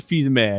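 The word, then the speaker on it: Fils-Aimé: last name uh yeah Reggie feesame I believe is how it's pronounced I well if it's French I think the S is silent but gonna say pause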